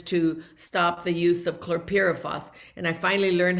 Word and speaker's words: chlorpyrifos: I also worked with our sisters and brothers to stop the use of chlorpyrifos, and I finally learned how to say it the right pronunciation.